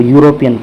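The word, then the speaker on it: European: ठीक है, तो यूरोपियन, इसका फर्स्ट अक्षर का प्रोनाउंसिएशन क्या हो रहा है, यूरोपियन, तो यानी कि य आ रहा है।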